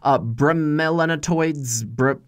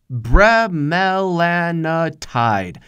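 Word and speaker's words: bremelanotide: alcohol, drugs, oysters, weirdly, bromelanoids, I can't pronounce that word. It's bromelanotide. There you go.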